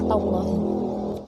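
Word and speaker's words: تالله: Adapun cara membacanya yaitu ba billahi dan wawu adalah wallahi dan tak adalah tallahi.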